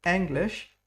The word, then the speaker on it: Englisch: English would be pronounced like English. Very good. And with the SCH, sh. Wir studierten Englisch an der Oxford Uni.